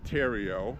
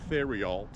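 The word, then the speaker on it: Theriault: the Republican is Austin Tero which is t h t h e r i a u l t it's French in English it looks like theal but in French it's pronounced Theo because the H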